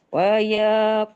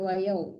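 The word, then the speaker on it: وَيَا قَوْمِ: Wa ya qaumi inni akhafu alaikum yaumat tanad. Ininya panjang Ibu. Oh. Wa ya qaumi inni Ibu, waya bukan wayau.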